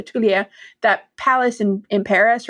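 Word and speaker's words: Tuileries: wrong and I apologize tuler there's no the S at the end obviously is silent so Tulia that Palace in in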